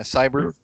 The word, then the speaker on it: Seibert: he drafted Austin Siebert Seibert how we pronounce his name it's like a crowd yeah cyber he's the kicker out